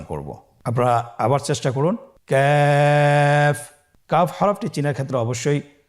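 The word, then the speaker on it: كاف: Calf উচ্চারণের ক্ষেত্রে অবশ্যই পাতলা করে উচ্চারণ করতে হবে এবং 3 আলিফ টেনে পড়তে হবে। আপনারা আমার সাথে চেষ্টা করুন। ক্যাফ।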